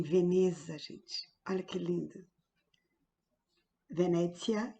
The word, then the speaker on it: Venezia: Venezia, que é como se fala em italiano, e aqui nesta caneca linda retrata alguns pontos turísticos de Veneza.